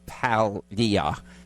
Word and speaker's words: Paglia: with us and uh even though it's spelled p a it's palia did I say it